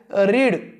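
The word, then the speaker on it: read: second form काय आहे रीड second form आहे रेड उच्चार तोच आहे फक्त म्हणजे अर्थ तो स्पेलिंग तीच आहे फक्त उच्चार वेगळा आहे रीड रेड स्पेलिंग तीच आहे पण अर्थ मात्र बदलतो रेड चा अर्थ होतो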